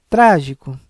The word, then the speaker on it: trágico: isso deverá ser acentuado trágico também uma trissílaba sendo que a sílaba também mais forte é antepenúltima pelo pela regra da proparoxítona deverá também receber o assento nesse caso o acento agudo por ser uma sílaba com som aberto trágico Então as únicas palavras